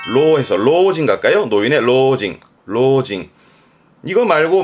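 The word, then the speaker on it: 老人: 늙을 로자 발음은 로해서 로징 갈까요?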